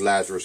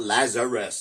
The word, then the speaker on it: Lazrus: Is the about these Lazarus clubs. And it's not Lazarus, it's Lazarus. Lazrus is how their name is spelled. So I've seen it just being said Lazarus, you know, and that's actually wrong.